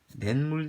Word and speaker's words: 냇물: 자, 발음했어요. 니은이 첨가돼요. 어떻게 첨가돼요? 냇물 되죠? 냇물.